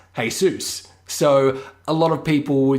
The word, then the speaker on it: Jesus: a lot of people have the name hey suits which is spelt like Jesus is spelt but it yeah hey soos so a lot of